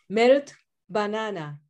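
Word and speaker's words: Melt-Banana: Melito Banana.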